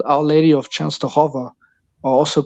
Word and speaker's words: Częstochowa: Częstochowa? Częstochowa.